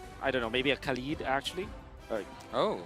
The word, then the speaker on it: Khalid: How do you say Oh, actually, my real name, yeah, it is Khalid. Khalid? Khalid. Yeah. Okay, so that's how we pronounce it.